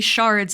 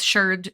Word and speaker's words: sherd: We use sherd to mean pieces of pottery, and it is generally pronounced sherd instead of shard, so it's sherd. It rhymes with nerd because archaeologists are, and it really does specify pottery.